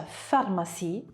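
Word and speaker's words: pharmacie: P seguita da h quando P è seguita da h come nella parola farmas si sentirà il suono F quindi pH lo pronunceremo F farmas C seguito da h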